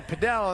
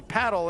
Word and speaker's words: padel: and it's funny because the Americans say padell and the the uh international players say paddle and you would think